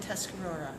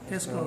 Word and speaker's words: Tuscarora: Could you pronounce? Mohawk, Mohawk, Oneida, Onondaga, Onondaga, Cayuga, Cayuga, Seneca, Seneca, and Tuscarora. Tuscarora.